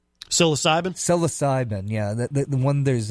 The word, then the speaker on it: psilocybin: it's inevitable so loss so you're gonna always mispronounce it selasa Ben psilocybin psilocybin yeah that one there's of dyslexia that